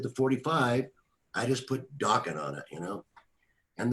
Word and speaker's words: Dokken: Let's just call it Dokken because my name is unusual and it rhymes with rockin'. But I had no intentions of ever calling the band Dokken.